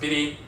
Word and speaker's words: bere: This is the etymological origin of bere, meaning black, is pronounced biri.